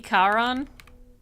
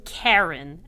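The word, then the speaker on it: Charon: how it's pronounced correctly it's not pronounced Karen and that's that's it Karen yeah Karen yeah car on that's it yes the psycho pump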